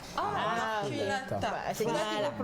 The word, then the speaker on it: maculata: Marcus, j'ai jamais dit ça. Tu as dit quoi? Maculata. Maculata. C'est là qu'il faut prononcer ça comme ça.